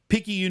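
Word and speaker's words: Picayune: get off here you grew up in uh pyun Mississippi correct that's right you said it right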